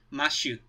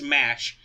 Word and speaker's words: Mash: about this about coz in Japan her name is said ma shoot which if you know anything about Japanese pronunciations you could totally see them saying Matt you like that but um given the official the official Roman the official North American ization the official English translation is mash that may or may